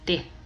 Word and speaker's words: det: Notice how we don't pronounce the T in det. We simply say det.